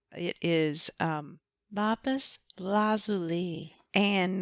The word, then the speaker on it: lapis lazuli: Also, because I said the name wrong, it is lapis lazuli, and not what I said, which I don't even remember what I said, but I said it wrong.